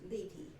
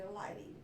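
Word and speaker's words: Leighty: I don't When they came over Germany, whenever it was, it's pronounced Ley.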